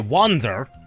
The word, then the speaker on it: Wanzer: By the way, Wanzer, there's a reason I'm pronouncing it wanzer and not wanzer.